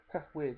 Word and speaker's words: Wyrd: Weird, yeah. The company that makes it is called Weird, spelled with a Y, so it's WYRD.